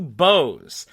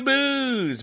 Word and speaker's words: Bose: 1 coming from Matthew Bose. Now, I have to apologize to Matthew. I have been mispronouncing this man's last name for years. I've been saying Matthew Booze, but it's Bose, like the speakers.